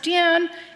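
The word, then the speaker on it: 殿: have on the screen it's pronounced din and we define it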